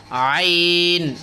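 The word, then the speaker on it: ع: তারপরে হলো আইন, এটা কিন্তু কঠিন আছে, আপনারা একটু খেয়াল করবেন, আইন, আইন। তারপর হলো গাইন, গাইন।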